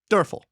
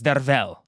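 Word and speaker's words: Derfel: The audiobook narrator who we listen to, Dural is amazing. Uh he's an amazing audio book narrator audio book narrator, but it gets the pronunciation wrong. But apparently it's Derell.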